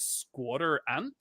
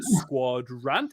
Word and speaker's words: Squadrant: because I was like is it squatter ant or is it Squad rant and I love squadrant it's quadrant Legion